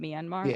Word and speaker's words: Myanmar: I'm not sure of the exact date, and correction, I think I pronounced Myanmar wrong. That's how you say it, Myanmar.